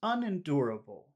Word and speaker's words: unendurable: So we've identified the really strong syllable, unendurable. But what would you say would be the secondary or the another stressed syllable, which maybe is not so strong? Un. Yeah, you're right. I think you're right about that. So this is unendurable, unendurable, unendurable. Yeah. So we've got two stress.